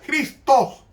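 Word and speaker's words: Χριστός: se traslitera cristos y se pronuncia con jotas cristos es decir este es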